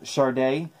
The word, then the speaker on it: Sade: what check that out Sade the original where they had to put the you know the pronunciation sharda so that's a really